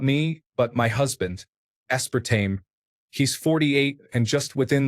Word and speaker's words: aspartame: Aspartame. He's 48 and just within the last year realized it's not pronounced aspartame.